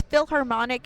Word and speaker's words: Filharmonic: Yeah, and it's Philharmonic, and it's spelled Filharmonic because it's an LA-based Filipino-American a cappella group.